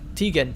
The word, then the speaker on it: Tygan: name it's uh uh tygan Tegan that's it Tegan spelled with a Y I think and we are going